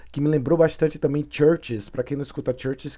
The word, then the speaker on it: CHVRCHES: Open the door que me lembrou bastante também Churches para quem não escuta CHVRCHES que geralmente se escreve chvress chess assim C-H-V-R-C-H-E-S né eh church